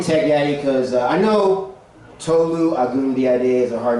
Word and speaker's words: Tolu: All you have to do to pronounce Tolu, it's 2 syllables, is just have an